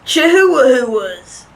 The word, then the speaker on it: chihuahua: example of some of those breeds are labradors chihuahuas what oh it's pronounced chihuahua mr dan didn't know that chihuahuas